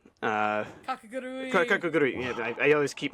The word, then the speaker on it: Kakegurui: Kakegurui. Kakagurui. Kakegurui. Yeah, I always keep missing a syllable there.